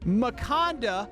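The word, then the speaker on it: Makanda: Maconda rhymes with Wakanda.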